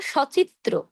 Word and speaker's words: সচিত্র: এটা একটু বুঝিয়ে বলি শব্দের শুরুতে যদি সহিত অর্থে ব্যবহৃত হয় তখন অ এর উচ্চারণ অ এর মতোই হবে মানে কি? যেমন সচিত্র মানে চিত্র সহিত বা চিত্র সহ সবিনয় বিনয়ের সহিত বিনয়ের সাথে। এই সহিত অর্থে যদি কখনো দেখেন যে স যুক্ত হয়েছে তাহলে উচ্চারণ করবেন অ এর মত। তাহলে কিন্তু আর ও এর মত উচ্চারণ করবেন না।